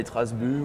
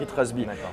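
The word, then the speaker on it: Itras By: Ouais, c'est ITRAS-B. Il ne faut pas le prononcer à l'anglaise en fait.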